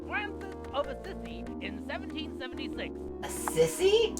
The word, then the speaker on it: Assisi: of assisi in 1776 a sissy a sissy we're learning hey i went to catholic school for six years it is not pronounced the sissy are you sure i